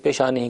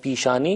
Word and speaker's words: پیشانی: بھی اس کے لیے پیشانی کا لفظ رائج ہے، البتہ تلفظ تھوڑا سا مختلف ہو جاتا ہے۔ ہم فارسی میں کہتے ہیں پیشانی اور اردو میں کہتے